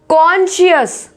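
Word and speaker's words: conscious: कॉन्शियस, कॉन्शियस, यहाँ पे देखो एस के बाद सी है तो क्या है? साइलेंट है।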